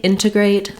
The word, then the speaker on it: integrate: words integrate an integration I pronounced it with the first T sound as an aspirated T there's two ways that you'll hear native speakers saying these words they may say integrate like I just did